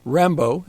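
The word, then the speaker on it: Rimbaud: him to a poet Rambo is the pronunciation yeah he he was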